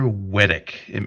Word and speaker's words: Wettach: Wedick. Am I pronouncing your last name correctly? Yeah, that's right.